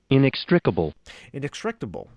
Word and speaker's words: inextricable: Okay, I'm going to go to Webster Dictionary again, Merriam-Webster, and learn how to pronounce this word as well. Inextricable.